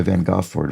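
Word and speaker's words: Van Gogh: go and painting by Van goord van go or or a more accurate pronunciation apologies during his time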